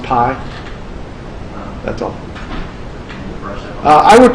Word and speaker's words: pi: It's kind of like this is the Greek letter for P, but it's pronounced pi.